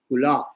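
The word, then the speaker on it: Khula: wants to give give up her husband she pronounces what is called kula k UL a Kula Kula means where the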